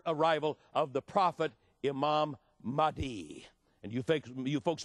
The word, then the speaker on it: Mahdi: prepare for the arrival of the prophet imam mahdi and you think you folks may want to take some notes and write this down that is spelled m-a-h-d-i mighty the quran you all know was written by